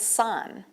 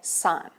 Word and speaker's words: sine: All right, so if we go up, says there our first trig ratio is called sine, but we spell it S-I-N. So we don't say sin, we say sine.